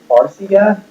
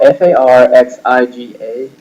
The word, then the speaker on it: Farxiga: Now, on the other hand, the ad that I thought was the worst was this ad by Farxiga.